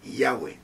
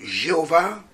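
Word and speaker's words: Yahvé: terre est très compliqué c'est le tetragramme YHWH on il n'y a que de conson il n'y a pas de voyelle on ne sait pas le prononcer alors on a essayé de faire quelque chose qu'on peut prononcer et normalement c'est yah c'est yah Yahé donc comprenez et le le le Jéhovah euh c'est une ce sont les gens qui ont fabriqué ça n'existe pas n'existe pas alors vous comprenez par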